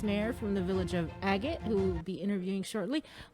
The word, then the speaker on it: Agat: And we're going to begin in the village of Agat. Agat! You got to say it like that, Bree. Okay. You say it with your chest.